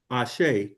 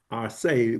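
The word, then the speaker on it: Àṣẹ: Also, I want to, just another term that we use quite a bit is Ashe. And it's spelled A-S-E, but it is pronounced A-S-H-A-Y, Ashe, which means you are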